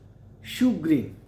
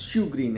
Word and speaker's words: chagrin: But the pronunciation is shugrin. The pronunciation is shugrin and the spelling is c h e g r i n.